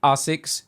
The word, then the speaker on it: ASICS: that is that, yes, I usually like to say ASICS because this is the way that the Japanese themselves like to pronounce their own brand. It's a Japanese brand, they named it, and this is how they say it.